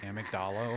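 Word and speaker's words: amygdala: Can any of you folks across the pond confirm whether it's pronounced amdala over there? Cuz here we say amydala.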